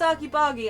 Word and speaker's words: argy-bargy: You've used so if you've used argy-bargy, argy-bargy, how do you pronounce it? Arg like Argyle, or Arge like Arg-Joss?